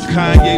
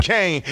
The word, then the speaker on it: Kanye: Now all I need is y'all to pronounce my name is Kanye, but some of my plastics still say Kane.